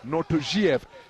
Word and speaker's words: Nortojiev: Asked his team whether it's NORTOJIEV or NORTOJIEV, and they inform me in no uncertain terms that it's NORTOJIEV is the correct pronunciation.